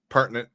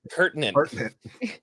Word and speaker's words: pertinent: oh some parent how do you say that partent partent scen no pertinent yeah we none of us can read here